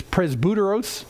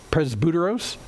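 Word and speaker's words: πρεσβύτερος: guide in greek is presbyteros presbuteros and if that sounds like presbytery you're right because that's where the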